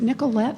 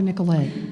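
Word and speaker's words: Nicolet: by asking is it Nicollet or nicolay nicolay nicolay I apologize I I show my Oklahoma Roots uh with that uh flat Nicollet and uh uh so of Nicol bank that's the way everyone pronounces it outside Wisconsin okay all right um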